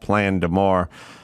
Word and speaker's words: Plein D'Amour: You got a new album out, which, like I said, or like you said, is called Plein D'Amour. But I want to spell it out for people so they understand it, because it's not phonetic at all.